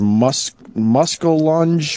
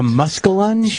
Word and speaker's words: muskellunge: A muskellunge? So I just want to. I want to Google image muskellunge. Let's get that up there. M-U-S-K-E-L. That should be the muscle part, and then lunge, L-U-N-G-E.